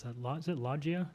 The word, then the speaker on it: loggia: I don't know how to pronounce that. Is it Loggia? Logia? Loggia, thank you.